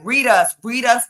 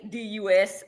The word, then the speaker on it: Readus: And it's Readus. Oh my gosh, that last name has been butchered so much. No, it's very easy. It's literally read us. It's simple. Read us.